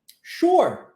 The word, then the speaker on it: sure: pessoa diz o seguinte sure e aqui nós nós temos um novo padrão linguístico onde o s tem som de X sure sure isso acontece também na palavra Sugar tá de Açúcar sure e quando a pessoa